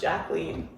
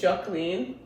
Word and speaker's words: Jacqueline: And then under it came right goes by, formerly known as Jacqueline. Wait, so how do you spell that?